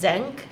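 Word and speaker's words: Xenk: I know there were so many cute things, and I like, and it's pronounced Zenk. Is how it's Zenk.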